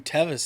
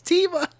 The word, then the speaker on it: Teva: I can pull off wearing Tevis sandals Teva this dude it's Teva whatever oh I'm sorry